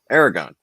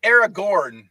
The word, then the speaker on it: Aragorn: jordan did right uh it is uh aragon uh i'll give it to you technically that's aragorn right but i'm giving